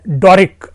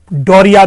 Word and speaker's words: Doric: मित्रों, कभी कभी इसका उच्चारण डोरिया भी किया जाता है, और मैं पुनः कहा कि उच्चारण एक अलग विषय है, लेकिन हमें जो समीचीन लगा है वो आपके सामने प्रोनाउंसिएशन लेके आया हूं, DORIC है, तो मैंने इसको डोरिक ये नाम लिया है।